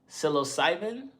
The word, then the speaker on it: psilocybin: Um, psilocybin. That's how you say it.